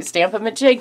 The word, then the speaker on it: Stamp-a-Ma-Jig: I thought I was saying it wrong. Stamp-a-ma-jig thing. Okay. So I embellished the thing, but it's called a Stamp-a-Ma-Jig, and I think you all know what it is.